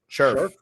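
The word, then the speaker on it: Scherff: Scherf. I pronounced it wrong. I knew it.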